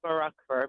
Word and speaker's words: Murakhver: It It's Makarova, but you came very, very close.